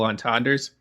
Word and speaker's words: entendre: the trap of double entendres. Did I say that right? I don't know. Non parlez-vous français? Entendre, right? He did say it right.